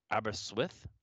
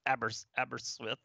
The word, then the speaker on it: Aberystwyth: Aber Aberystwyth, boy, God help me, I have no idea how to I pronounce think it. that was actually pretty close. Good. It's Aberystwyth Yes, University in some Wales, okay?